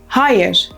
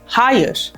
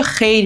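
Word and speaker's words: hayır: یعنی نه تکرار کنیم هایر خیلی از ماها به خاطر نزدیکه با زبان عربی تلفظشو خیر میگیم این اشتباهو نکنین ترکها فکر می‌کنن راجع به کار خیر دارین صحبت میکنین خیلی قاطع و مکم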